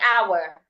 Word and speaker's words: hour: For example, hour. I should not say the h sound. I shouldn't say how. No, I would just say our.